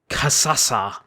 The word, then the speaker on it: Kasasa: It's Kasasa. I just want to hear you say that. Kasasa. It's like you roll with it in one syllable. Kasasa.